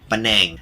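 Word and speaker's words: panaeng: the least number five paneng Curry or pronounced in thi paneng I tried different varieties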